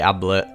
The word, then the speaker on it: Ablett: So Garys are a slang for MDMA pills / ecstasy pills, and they're named after the footballer Gary Ablett, which rhymes with tablet.